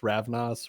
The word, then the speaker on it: Ravnos: Michael Barrow the ravnus how do you say it ravness ravnos ravnos is that Stars see